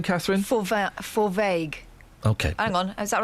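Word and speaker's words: Fovargue: Forvague.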